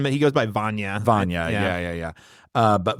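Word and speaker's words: Vanya: the difference between I keep calling him uh Ivonne and it what well I think he he has I think it's spelled like Ivan but he goes by Van Vana yeah yeah yeah uh but Vana and Annie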